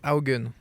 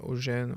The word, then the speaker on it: Augen: Et mon nom de famille, ça se prononce Haugen. Haugen. Pas Eugène, aux gens.